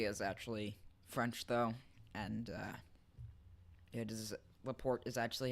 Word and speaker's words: Laporte: And Laporte is actually how you say his name.